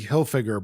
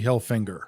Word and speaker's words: Hilfiger: There's no N. It's not Tommy Hilfiger. It's Tommy Hilfiger. Oh, that one. Did you know that's how you say it? No. Yeah, it's like Hilfiger. It's like you're trying to say Hilfiger, but you have a stuffy nose.